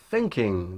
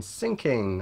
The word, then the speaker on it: thinking: with my students was instead of saying I'm thinking they say I'm sinking I'm sinking and if